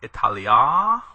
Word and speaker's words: Italia: major grammar features first you see in line one two different forms of Italia Italia with a long a and Italia with a short a on the end the difference between these